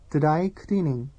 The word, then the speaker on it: 드라이클리닝: And dry cleaning, borrowed once again from English, is pronounced 드라이클리닝.